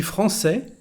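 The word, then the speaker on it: français: first sentence je suis francais etua you remember that je is very soft je suis francais francais with here our sesadia to soften the pronunciation of the letter c and we get francais so the pronunciation now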